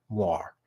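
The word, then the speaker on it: moiré: loud that much so the word is pronounced more not more it's my ignorance showing here and I'm a little embarrassed but every time you hear me say Moray please in your head think more thank you so Amore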